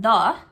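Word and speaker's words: Dhë: Now, I asked Julie though and she says, "Yeah, DH E, but it's pronounced 'the' like th and it means earth in Albanian."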